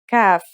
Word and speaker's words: kaf: to learn today is kaf the kaf is pronounced just like the english k here's how to write